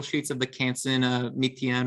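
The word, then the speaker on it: Mi-Teintes: of the canson uh methion or meatpaw and paper um it's spelled m i uh and then space t i e n t e s um so it's like mi tientes but the the pronunciation is obvious obviously different um but those are great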